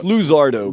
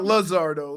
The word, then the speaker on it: Luzardo: It's Luzardo. Luzardo. It's Luzardo. Yeah, L-U. But not Luzardo, like the gringos say it.